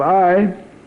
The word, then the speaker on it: Ai: habit of AI of I city of I AI is pronounced I and bethl now because